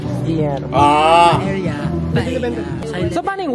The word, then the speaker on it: Guillermo: Pronunciation 101 sa Spanish, pag dalawang L, Y ang basa na. So yung Guillermo, hindi siya Guillermo. Guillermo.